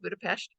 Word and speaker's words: Budapest: Budapest and that is how you say it Budapest um Vienna and uh Prague in mid-march and